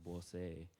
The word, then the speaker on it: Boise: Any town that's along a waterway, including this one, which I has heard is called Boise, and you guys are all saying it wrong, is that we were there.